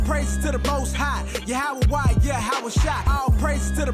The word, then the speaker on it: Yahawah: Now, depending on your form of Hebrew, you have some people pronounce it Yahweh. Another group pronounce it Yahuwah. We were taught Yahawah.